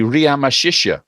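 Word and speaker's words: Ramesses: you about a few PS so the name ramases is actually ramashish that's how it was heard and how it was how it pronounced okay now it just so happens like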